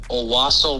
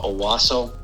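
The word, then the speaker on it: Owosso: did some digging and it's called aaso Miss Michigan o w SS o I think I'm pronouncing that right uh aaso uh but that's where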